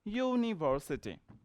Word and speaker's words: university: going to use according to sound so it's pronounced University you and you comes in Nepali this you